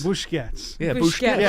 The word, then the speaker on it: Busquets: from Busquets, and I want just to read it because I think Bertie might appreciate this quote.